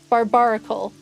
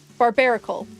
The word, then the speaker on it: Barbaracle: Our next one is It took me so long to pronounce this Pokemon name. Give me a second. Barbaracle. Barbaracle.